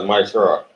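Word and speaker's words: מעשר: Means tenth in Hebrew, and pronounced as Maishara.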